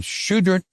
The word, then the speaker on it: Choudrant: I'm here today with Tina Wise at Choudrant Appliance in Choudrant, Louisiana.